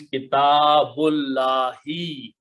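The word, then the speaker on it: كتاب الله: So we don't pronounce this alif, so it becomes kitabullahi.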